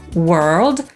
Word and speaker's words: world: „słowo”, czyli „word” /wɜːd/ lub /wɜ:rd/, „pierwszy” – „first” /fɜːst/ lub /fɜ:rst/, „dziewczyna” — „girl” /ɡɜːl/ lub /gɜ:rl/, „świat”, czyli „world” /wɜːld/ lub /wɜ:rld/, „Ziemia” to „Earth” /ɜːθ/ lub /ɜ:rθ/ i „urodziny” — „birthday” /ˈbɜːθdeɪ/ lub /ˈbɜ:rθdeɪ/.